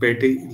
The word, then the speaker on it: Petit: French में ड्यूला एंड पेटी law. Last T silent. तो लास्ट टी जो है पेटिट्स, फ्रेंच वर्ड में अगर टी साइलेंट लास्ट है तो आपने ड्रॉ किया होगा कि वो हमेशा साइलेंट रहता है।